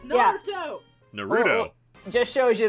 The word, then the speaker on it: Naruto: Tim Whitfield, thoughts on Dragon Ball Z and Naruto?